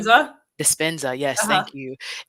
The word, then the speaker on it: Dispenza: I was listening to last week our guest talked about Joe DiPastina, I think is how you say his last name. Dispenza.